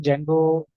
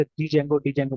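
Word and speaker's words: Django: उसको बताने के लिए, क्योंकि वो हमेशा डी जेंगो प्रोनाउंस करता था ना, बट इफ you listen to the pronunciation it's जेंगो, ठीक है।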